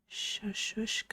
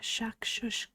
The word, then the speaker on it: shakshuka: It's like shashushka. Let me see. I'm also trying to watch where I'm going. Yeah, shakshuka. It's hard to say without mixing up the last 2 syllables.